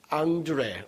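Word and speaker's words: André: 앤드류 러시아에서는 안드레이 어 프랑스에서는 뭐라고 하죠 앙드레 응 어 앙드레 김이에요 말 하잖아요 앙드레 뭐 앙드레 앤드류 안드레이 뭐 이런게 다 같은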